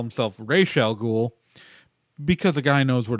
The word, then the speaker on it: Ra's al Ghul: for the listeners and viewers who aren't aware rachele ghoul and that's how you're supposed to his name often has his name mr. pronounced in various media as Ra's al Ghul like you saw in Nolan's trilogy they refer